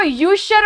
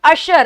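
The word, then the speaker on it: usher: ठीक है, चलिए नेक्स्ट वर्ड बेटा, इसको यूशर पढ़ती है दुनिया, ये है अशर। इसका प्रोनाउंसिएशन क्या है, अशर। इट इज नॉट यूशर, इट इज अशर।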